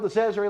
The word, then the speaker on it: DeCesare: It rhymes with treasury. We're talking about Phil DeCesare, ladies and gentlemen.